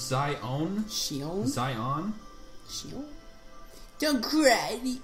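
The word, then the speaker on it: Xion: I know, Shion. I was right. I knew it. Her name's pronounced Zion.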